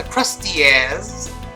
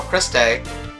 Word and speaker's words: Krusteaz: favorite box cake mix, and this is the Krusteaz, or Krusteaz. I prefer my pronunciation.